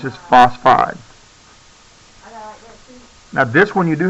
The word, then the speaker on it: phosphide: the last syllable but phosphorus just sounds funny when you say uh phosphoride phosphide just sounds better like oxygen you take